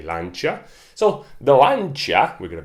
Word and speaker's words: Lancia: The Brits say Lancia. I think Italians say Lancia.